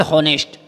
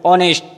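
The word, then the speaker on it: honest: जैसे as example हॉनेस्ट, हॉनेस्ट एच की आवाज़ नहीं आ रही है, ओ की आवाज़ आ रही है, ऑनेस्ट।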